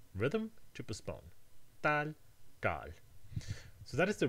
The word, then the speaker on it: ʈal: It indicates that the vowel is pronounced long. So this word is tal with an alveolar T, and this word is tal with a retroflex.